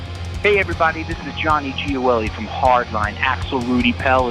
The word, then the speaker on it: Gioeli: That was such a beautiful pronunciation of my last name. It almost brought me to an Italian restaurant to go have a pasta dish. That's how well you said that, bro. That was perfect, man.